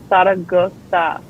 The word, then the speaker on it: Zaragoza: Okay, so if I must explain, the Z's are like, so it's Zaragoza. It sounds like you have a list, but that's how you say it.